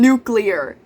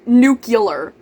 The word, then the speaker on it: nuclear: pretty often fairly often I'll hear people say Escape EX especially verse and N nucular I almost forgot how